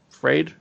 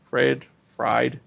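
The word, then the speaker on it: Feyd: Fried, Fade. Fade. Fade. They have not cast him yet. So I'm leaving that to open to see how that goes. Fade Rotha.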